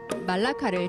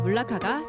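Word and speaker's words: Melaka: 많은 분들이 말레이시아 여행하시면서 한국의 경주와도 같은 말라카를 다녀오시는데요. 사실 현지 발음은 말라카보다는 물라카가 조금 더 가깝다고 합니다.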